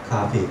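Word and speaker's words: 咖啡: 그 발음이 카페입니다. 카페이.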